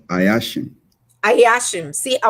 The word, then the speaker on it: Ayashim: to mess it up you can just pronounce it as it is spelled ayashin i hatch him see i was gonna say so i asked him